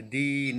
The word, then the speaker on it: दिन: दीन यानी गरीब, दीन यानी गरीब।